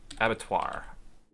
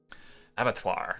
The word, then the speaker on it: Abattoir: is going to be Avatar Avatar that's how you pronounce that it's basically means a it's another word for a slaughterous basically so that's going to